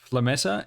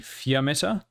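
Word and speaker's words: Fiammetta: saying the new sixth star operator's name is flametta it's not with an l it's with an i i've only noticed this as i've been editing the video so the pronunciation should be fiometer vr is italian for flame it's a fear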